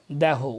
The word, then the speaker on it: দেহ: বিদায় এবে দেহ, উচ্চারণটা এখানে হবে দেহ, বানান একই, দেহ আর দেহ।